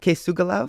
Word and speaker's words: K̓esugwilakw: to be talking about decolonization through design with kugala from Sky spirit thank you for joining me today h uham uh you pronounced my name amazingly uh my my name